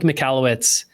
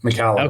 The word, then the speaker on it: Michalowicz: Small Business Owners, Mike Mallowitz. Mike, I hope I'm pronouncing your name right. Thanks for coming on. You nailed it, Anthony. You nailed it. Mallowitz.